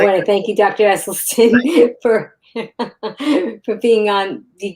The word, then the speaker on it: Esselstyn: Esleston and everybody remember it's Dr. Essel Stin.